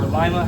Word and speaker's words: Lima: They are they are located in uh Lima, Ohio or Lima, however you want to pronounce it. It's l i m a.